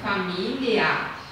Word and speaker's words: família: Temos que cuidar porque tem palavrinhas, por exemplo, família. Que se a gente ler muito rápido, família, parece que tem LH, né?